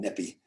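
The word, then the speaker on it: Nyepi: My wife's over here telling me how to spell it. Just know it's called Nippy.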